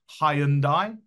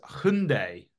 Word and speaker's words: Hyundai: So in the UK, we'd often pronounce their name Hyundai, because that's kind of how sort of spelled. But actually, it's Hyundai, right? That's how they pronounce it, Hyundai.